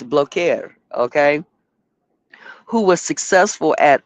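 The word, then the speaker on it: Blaquiere: In our language, it would be blacker, but it's blokeer.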